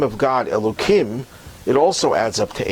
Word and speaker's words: Elohim: In fact, one of the names that we use for God is Elohim. I'm mispronouncing it because the real pronunciation has, instead of the kim sound, has a him sound.